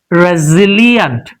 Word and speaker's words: resilient: Resilia Razilia Razilia stress is on Z sound. So re z le a n place become in resilient resilient resilient resilient it's